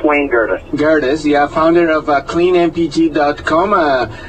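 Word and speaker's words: Wayne Gerdes: Yeah, we're talking to Gain Gredes, did I pronounce it right? It's Wayne Gredes.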